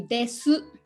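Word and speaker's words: です: for is the usually we have to pronounce each word with consonants and vowels like it should be de su watashiwa nihonjin but um we say this all the time so the last u vowel usually dropped uh so we'll be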